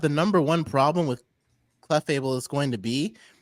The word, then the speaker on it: Clefable: to be the Is that how you say it? Cleables general. Clefable. Why did I say cleable?